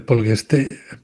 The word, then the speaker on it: Poltergeist: Es decir, tú dices el poltergeist, ¿cómo se pronuncia?